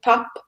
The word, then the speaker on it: pap: that's similar to polenta it's called pop and people are you pop pop yeah like but it's spelt PAP and people usually eat it